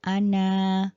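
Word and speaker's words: أنا: atau aku bisa diperhatikan Ana itu ada Alif tetapi di alifnya itu ada bulatan ya berarti dia tidak panjang bacanya bukan Ana bukan seperti itu tapi Ana ya pendek aja Kemudian untuk berdua atau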